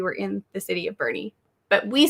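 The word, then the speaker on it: Boerne: city of bernie texas spelled b-o-e-r-n-e we thought it'd be like born born yeah borney no it's bernie and that's actually how we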